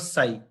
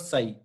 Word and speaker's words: psi: Then just like this symbol, this is called psi. P is silent in this. This is called psi.